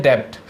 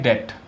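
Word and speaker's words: debt: ठीक है, नेक्स्ट है डेब्ट। अब इसको हम डेब्ट बोलते हैं, लेकिन क्या ये डेब्ट ही बोला जाता है? नहीं, इसमें जो बी है वो साइलेंट रहता है। हम इसको बोलते हैं डेट।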